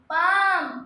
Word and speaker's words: palm: पाम, PALM, पाम का मतलब हथेली, पाम का मतलब हथेली, जिसमें एल आपका साइलेंट है।